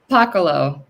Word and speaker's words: Pakaloh: And is it pronounced, because with my Boston accent, I say Pakaloh, but it's Pakaloh? Pakaloh. Yeah, from Pakalolo.